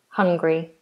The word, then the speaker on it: Hungary: Now, if you're saying I'm hungry, then we don't do three syllables. It's two. I'm hungry. I need food. I'm hungry. That's two syllables and um different spelling of course. Hungary.